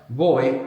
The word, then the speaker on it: voy: Voy. V O Y. The V can be pronounced like a V or a V in Spanish.